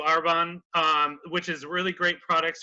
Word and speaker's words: Arbonne: works with a company called Carbone Arbonne sorry I was mispronounced a Arbonne thank you our bond which is really great